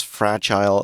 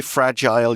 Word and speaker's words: fragile: symbol of dreams as fragile as glass. Now, you can say fragile, you can say fragile, both ways of pronouncing it. I say fine. fragile. Yeah, fragile is a little more British pronunciation.